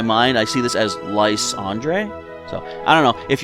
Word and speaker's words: Lysandre: watched everyone's calling it lysander but i feel since this is uh you know calo's based off france andre is a french name so in my mind i see this as lys andre so i don't know